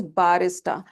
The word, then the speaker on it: barista: It is barista. So this a sound we stretch that a sound.